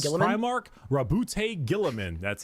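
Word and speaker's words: Roboute Guilliman: Rabute Gillaman.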